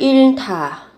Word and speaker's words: 잃다: các bạn giữ nguyên, phụ âm hờ và tờ kết hợp với nhau, các bạn phát âm thành âm thở.